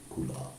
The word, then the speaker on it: kula: So sometimes people accept Diksha either from the Kula guru, Kula. It's actually Kula, but sometimes it's pronounced cool.